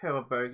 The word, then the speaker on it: Herbabot: Yeah, I think Herbabot is gonna be the correct, the official pronunciation.